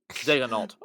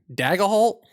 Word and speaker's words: Daigneault: It's how Daigneault. Daigneault. Is that No. it? Daigneault. Daigneault. All right. Daigneault.